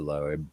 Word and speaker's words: Loeb: Do you just say Loeb, like earlobe, I think so. or do you Lisa have Loeb. to enunciate the E?